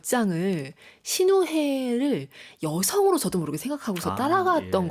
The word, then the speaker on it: 시누헤: 사실 이 신우회 이야기가 그냥 묘하게 이제 한글에서는 발음 잘못하면 신우이 이야기로. 네, 많이들 그렇게 농담을 그쵸?